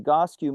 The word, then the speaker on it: Egoscue: And what is the Egoscue method, if I pronounce that? Egoscue, yeah.